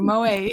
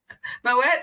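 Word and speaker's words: Moët: we usually talk over Moe. Moet, darling. Oh, well, I don't know. You see, you're waving. You've got to wave. You've got to pronounce the T.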